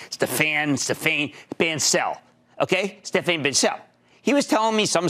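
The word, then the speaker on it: Stéphane Bancel: And I bumped into this real nice guy, Stephanie, I wasn't sure how to pronounce his name, Stephane Bancel, okay? Stephane Bancel.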